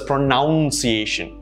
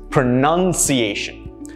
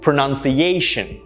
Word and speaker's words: pronunciation: us pronounce this as pronunciation this is incorrect there's no our sound in this it's pronunciation and one thing i'd